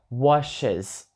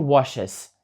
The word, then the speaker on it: washes: літерами і S остання це літера S буде звучати більш як Z ніж як S послухайте washes миє Я не кажу wases Я кажу washes Тобто